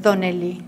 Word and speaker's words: Donnelly: ¿Y por qué Donnelly? Donnelly. Irlandés. Claro, se pronuncia la D como T. Sí, o con acento en la O, en vez de Donnelly.